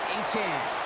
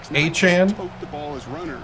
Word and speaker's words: Achane: Achane.